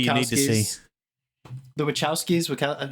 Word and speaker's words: Wachowski: How do you say Ch or K? No, you said it right. The Wachowskis. No, you said it right I'm really before. hoping. Which That's what said I it was right saying. the first I think time. I've been saying Kowski. I guess it's Wachowski.